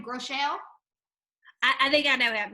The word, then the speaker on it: Groeschel: Groeschel? I think I know him. Yes. Groeschel, right?